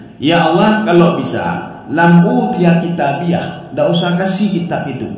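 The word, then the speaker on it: كِتَابِيَهْ: ta Har ada H ini namanya H wakaf maka bacanya kitabiah sultani sultaniah kemudian ada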